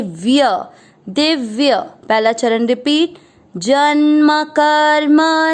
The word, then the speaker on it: जन्म: पहला चरण ज के साथ आधा न जन, म में अ मिक्स करेंगे जन्म, क पूरा है क